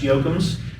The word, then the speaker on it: Jochems: So I tell people, if you're a Dwight Yoakam fan, that's how it's pronounced. Put an S on the end, that's how it's pronounced.